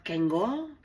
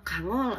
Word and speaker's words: Kangol: Apakah kenggol, kenjol, apa benjol? Pokoknya mah kangol aja dibacanya Bunda.